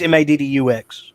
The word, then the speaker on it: Maddux: Maddox. No, it's Maddux. Yeah, I'm saying spell it with an O to keep it nutty. Yeah. I don't know why the others spell it OX, but our particular bloodline is UX.